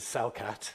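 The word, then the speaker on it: Celcat: The first of those is Cellcat, that's spelt with a C, C-E-L-C-A-T.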